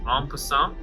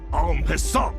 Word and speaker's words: en passant: The only reason I know how to pronounce that is from Hearthstone, because I heard this noise En Passant way more many times than I wanted to, and it is stuck in my brain forever.